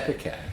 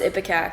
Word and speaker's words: ipecac: Epicac. No, it's Ipecac. Stewie mispronounced it.